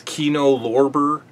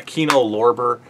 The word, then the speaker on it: Kino Lorber: what is this how do you say this kino lorber yeah kino lorber um it's the studios kino lorber they have